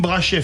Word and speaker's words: Brachet: Brachet, pharmacien et chercheur, fondateur de CXS Therapeutics. Je l'ai prononcé à la française.